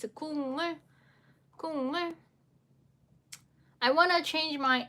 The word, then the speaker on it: 국물: You need to change it to sound. So it's a 국물.